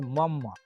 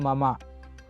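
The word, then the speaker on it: मम: See, this one in Hindi, they will read it as mum, because the last letter they pronounce half even though it is written full. But in Sanskrit, we use full reading only. So it is called mama.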